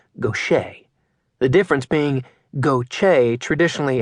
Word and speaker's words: Gautier: Gochce. He always mispronounced Nick's last name. He said it goch instead of the correct gocher.